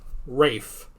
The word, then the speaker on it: Ralph: it was ray fines right but it's also ralph that's one of the most fun names in existence because it's not how you would think that's pronounced you know so yeah rafe um yeah but he had the conditioning it